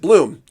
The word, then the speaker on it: Blom: And interestingly, my dad grew up with the name BLOM, but they pronounced it bloom.